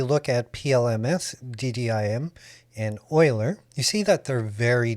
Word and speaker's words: Euler: ddim Euler not Euler I used to say Euler sounds like Bueller Bueller but it's pronounced Euler after a very well